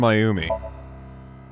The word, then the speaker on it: Mayumi: Let's listen to Mayumi's story. It's actually pronounced Mayumi.